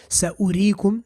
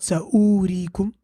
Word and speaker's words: سَأُرِيكُمْ: Same thing here, سَأُرِيكُمْ, not سَأُورِيكُمْ. And likewise, وَمَلَئِهِمْ, not وَمَلَئِهِمْ.